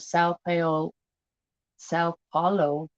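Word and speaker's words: São Paulo: Situated on a mountaintop many miles west of Sao Paulo. See, I cannot pronounce these names down there. And I know it. It's Saopaulo.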